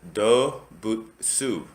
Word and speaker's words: Dobutsu: looking at their website they pronounce it as doe bhutesu it is a new